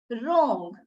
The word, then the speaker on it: wrong: The letter W is silent when it is placed before letter R. As you can see, wrapper, wrinkle, wrong.